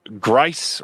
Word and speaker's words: Grice: also wants to let you know that Grice rhymes with rice.